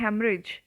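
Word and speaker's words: hemorrhage: भी फिर आता है हेमरेज हेमरेज में ना तो ये ई की साउंड है ना इस ओ की है और ना ही इस एच की है ये सारे मूक वर्ण है साइलेंट लेटर्स है इनमें से कोई भी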